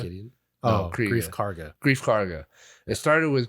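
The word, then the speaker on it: Greef Karga: Moff Kriega. Gideon. No, Oh, Kriega. Grief Karga.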